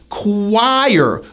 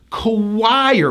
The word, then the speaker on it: choir: Even though it's spelled like this, we pronounce this word as choir with a strong hidden W sound. Choir with a high I going to an R.